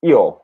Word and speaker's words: io: I keep saying io. It's io, right? It's I-O, or I don't know how to spell it, but it's pronounced like io.